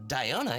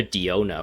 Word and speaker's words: Diona: guess i kept i i called her diona for the most part because i think that's how the japanese uh pronounces that name but apparently in english it's daiyo knight but yeah i was